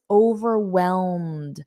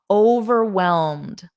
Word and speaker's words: overwhelmed: can practice again and try to imitate my pronunciation so let's practice overwhelmed notice this Ed D WellMed it's a very soft D WellMed WellMed and then you just add over overwhelmed repeat after me overwhelmed I feel overwhelmed good